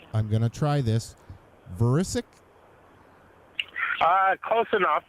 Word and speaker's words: Vrecic: Vrecic? Close enough. It's Vrecic, but okay. you did a pretty good pronunciation.